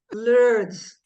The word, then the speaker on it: Lourdes: so much I I'm gonna try to pronounce the name the way you say it Lords that's right I say Lord L is your Nick